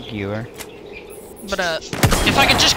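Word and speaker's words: Gewehr: The Jewer 95 is way better. I'm saying that wrong, by the way, I know. Like Gewer or something like that, and I can't say it right. Yeah, it's a Gewer.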